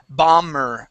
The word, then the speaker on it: bomber: instances this word is bomber bomber the B is silent it does not make a sense okay we do not pronounce the b bomb bomber bomber bom